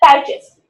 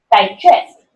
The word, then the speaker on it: digest: Record is a noun, and record the verb, like digest, right? Digest, noun. Digest, second syllable is stress, noun. Digest, so it is a verb.